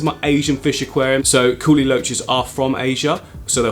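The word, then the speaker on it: kuhli loaches: that I wanted to get some of the coolie loaches, which you've now informed me is the correct pronunciation for them.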